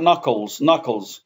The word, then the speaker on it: knuckles: And here in the finger, we got knuckles. The K is silent.